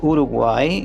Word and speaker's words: Uruguay: was born in Uruguay in Montevideo uh it's pronounced Uruguay which means the river of the colorful birds